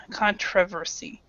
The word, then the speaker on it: controversy: controversy cont controversy controversy so this this syllable right here T is TR controversy controversy controversy okay so it's it's basically a schah sound so you do not actually uh it's not actually stressed controversy okay thank you and